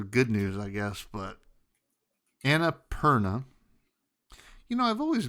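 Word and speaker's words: Annapurna: news I guess but Anna Perna you know I've always pronounced it differently because I I see p p Ur and I think like pure so I always think Anna purea it's Anna interactives entire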